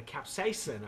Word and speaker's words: capsaicin: The capsaicin, I think, is how it's pronounced.